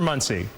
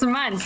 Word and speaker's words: Muntz: Well, let's talk right now with Muntz. Is it Muntz or Muncie? It's Muntz. You pronounced it perfectly.